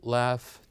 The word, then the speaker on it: laugh: of fun and here we have the word enough laugh tough that ends with GH they pronounced as the F sound and after this too